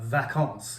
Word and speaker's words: vacance: is back but uh vacance it's a v in french vacance means vacation in french and so koreans take